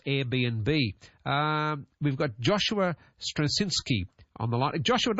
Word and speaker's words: Strawczynski: and of course Airbnb um we've got Joshua strasinski on the line Joshua did I get that correct that pronunciation of your name you did very well